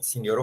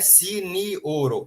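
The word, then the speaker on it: sinjoro: Signoro Hansen é signoro, ó, não é sinioro, é signoro, 3 sílabas.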